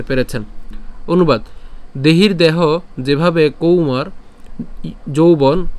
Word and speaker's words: কৌমারং: এরপর ইয়া দেহে এরপর কৌমারং কৌ কেন এখানে ঔকার আছে এজন্য তাহলে কৌমারং ইয়বনং